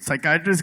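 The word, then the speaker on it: psychiatrist: जावेद यह साइकेट्रिस्ट की बात अगर किया इसमें तो व्हाई इज द P silent in साइकेट्रिस्ट? व्हाई द P silent वो साइकेट्रिस्ट में पी है पहला पिसाइट्रिज होता है। नहीं नहीं पहले पिसाइकैट्रिस्ट था।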